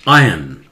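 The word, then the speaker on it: iron: score दीजिए, next बोलिए, इसे बोलते हैं आयन, ब्रिटिश इंग्लिश में आर उच्चारण नहीं करते हैं, आयन, बिल्कुल आई ओ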